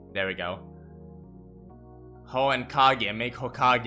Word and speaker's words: Kage: Pronounce J like gay. Kage.